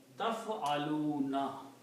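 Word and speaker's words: تفعلون: And pronounce it taf'aluna.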